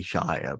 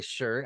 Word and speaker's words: shire: I don't want to go into the American somehow you say Shire, but basically you're from the north. I know. I'm sorry. I say Shire, but I know you guys say sure.